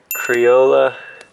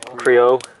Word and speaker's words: Creole: This one's gonna be Criolla. Is that how you say it? Criolla or Crioli? Creole. Creole.